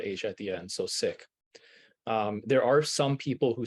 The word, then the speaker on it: Sikh: as preferred by the Sick Community is sick s-i-k-h almost pronounced like the word sick but with a hard Asia at the end so sick there are some people who say Seek uh but that is